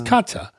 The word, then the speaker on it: Katja: And Franz's daughter, Kathy, how do you pronounce that in German? Katja? Maybe short for Katarina. So it probably is Kata. It's Katja.